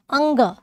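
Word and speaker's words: ङ: तो आपका क आ जाएगा, क, ख, ग, घ और अंग। इसके उच्चारण में भी बहुत सारे दोष मिलते हैं। कहीं कहीं इसको अड़ा उच्चारण किया जाता है, अड़ा नहीं होता, क्या होता है, अंगा, ठीक है।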